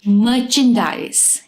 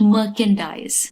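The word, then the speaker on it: merchandise: legit not लेगिड legit मर्चेंडाइज नॉट मर्चकेंडाइज मर्चेंडाइज the stuff that you बाय मर्चेंडाइज mundane not mundane mundane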